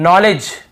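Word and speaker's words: knowledge: याने घुटना होता है नॉलेज यहां पर भी देखिए नॉलेज यहां पर भी डी साइलेंट है नॉलेज नहीं है नॉलेज डी भी साइलेंट है यहां पे के भी सेट नॉलेज तो दो एग्जांपल मिल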